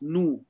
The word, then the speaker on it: gnu: Now G is silent in the GN group.